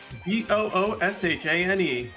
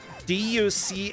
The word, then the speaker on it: Duchesne: Booshane. No. Duchesne.